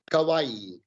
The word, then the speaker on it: kawaii: it kawaii or kawaii kawaii kawaii like hawaii yes like hawaii there we go i'm glad we got that straight so what is kawaii kawaii is like um it's